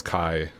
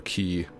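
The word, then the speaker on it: χ: And it also came with Kingdom Hearts Kai, or Key, back cover, whichever way you want to pronounce that, which is a film that's a prequel around Unchained Key, or whatever.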